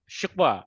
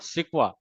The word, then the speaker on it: शिकवा: तो इट हाँ इज नॉट शिकवा, इट इज शिकवा, नॉट सिकवा।